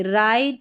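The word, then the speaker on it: write: डब्ल्यू आर इसमें इसको डब्ल्यू आर को र पढ़ेंगे। डब्ल्यू साइलेंट है। र इसलिए पढ़ रहे क्योंकि डब्ल्यू का तो उच्चारण हो ही नहीं रहा। तो देखिए राइट wrong rest rap rack.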